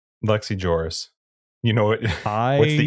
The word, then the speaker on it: Lex Ejoris: Is that how you say it? Ejoris? Yep. Not Eoris? Nope. Sometimes the J is a Y. Just. All right. Lex Ejoris.